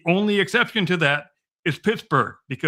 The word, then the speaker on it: Pittsburgh: And as far as people from the British Isles, particularly, they come here and say, why do you guys pronounce Pittsburgh and not Pittsburgh?